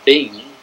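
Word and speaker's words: ping: inflection in other words the word p-i-n-g which was pronounced being it had five different meanings it meant soldier i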